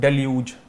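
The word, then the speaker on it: deluge: देखो याद केवे रखना है देखो लुज लिखा हुआ है प्रोनाउंसिएशन ल्यूज है लेकिन शब्द लिख लुज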